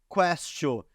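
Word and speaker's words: quaestio: Porque castio lembra questionar, porque em latim se pronuncia questio, e em latim questio quer dizer pergunta, quer dizer questão.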